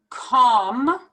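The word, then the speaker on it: calm: i don't pronounce it i pronounce it just like if it were if it were to be written c-o-m-com then we have nah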